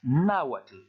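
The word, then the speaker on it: náhuatl: c'est le même peuple se prononce nawash normalement il faut prononcer plus fort le premier à la hausse et la terminaison en club t elle est caractéristique des langues d'amérique centrale ensuite on passe à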